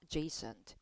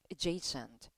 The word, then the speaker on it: adjacent: 막 어제센트 이렇게 외우면 안 들리겠죠?이 이 단어는 강세의 위치가 앞이 아니라 여기 떨어집니다. 그래서 Jason Jason 이렇게 발음해요. 어제 아니에요.